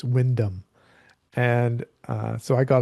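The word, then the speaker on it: Wyndham: And his name is John Windham, but that's not how it's pronounced in in Britain. It's Windam.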